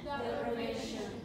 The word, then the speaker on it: deprivation: We could tap out, and let's count the number of syllables in the stress pattern. If we fold and clap for deprivation, deprivation, deprivation. Four, five. Deprivation is a 4-3. Good. So four syllables, third one is strongest.